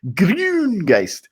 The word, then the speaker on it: Grüngeist: That's how you pronounce an U umlaut. It's to start with an E and then purse your lips into a whistle. Grüngeist.